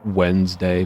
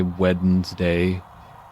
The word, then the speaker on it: Wednesday: It's like Wednesday. People don't say Wednesday. Wednesday. They say Wednesday.